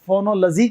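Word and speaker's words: phonology: कहते हैं हम लोग, LOGY का साउंड हमेशा लजी आता है, तो इसे आप फोनोलॉजी कहेंगे, सही उच्चारण का फोनोलॉजी होगा।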